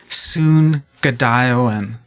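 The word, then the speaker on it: Zoongide'iwin: yeah yeah so it's soon good iowan um so the zed is kind of pronounced with an s so it's soon it's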